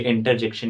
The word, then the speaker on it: interjection: आप सोच रहे होंगे मैं इसे इंटरजेक्शन क्यों बोल रहा हूं, तो मैं आपको बताना चाहता हूं इसमें टी साइलेंट होता है। ये इंटरजेक्शन नहीं, इंटरजेक्शन होता है।